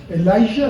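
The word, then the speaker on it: אליהו: se escribe el bueno se pronuncia más parecido en inglés que no es la hija el laija así sería también en hebreo que significa Jehová J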